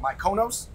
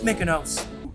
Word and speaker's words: Mykonos: Are you talking about Mykonos? Well, the correct pronunciation is Mykonos.